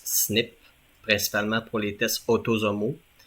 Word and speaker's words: SNP: chromosome qui le porte SNP ça se prononce snip principalement pour les tests